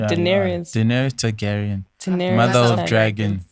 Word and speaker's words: Daenerys: And we're not Daenerys. Am I pronouncing it correctly? Yeah, Daenerys.